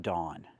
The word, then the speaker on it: dawn: Pronunciation. Dawn. Use the aw sound like in automobile, saw and law. Daw, dawn.